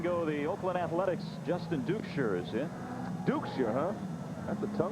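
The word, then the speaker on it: Duchscherer: Dukeshire.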